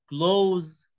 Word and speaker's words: close: وكلوز ناخد بالنا من البرونسيشن بتاعها، ان الاس هنا نطقها زد. ليه؟ مين يعرف؟ عشان الاس هنا وقعت ما بين تو فاولز، ما بين حرفين متحركين.